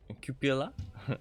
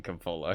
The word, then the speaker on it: cupola: you got the cupola I'm gonna call it the compola because it's just easier for me and other people call it Coppola too but it's not the proper way to say it um but I wonder